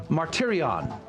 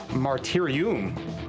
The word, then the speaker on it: martyrion: Adrian, can you tell me what is Martyrion? Yes, in Latin it would be pronounced martyrium, but in Greek, martyrion.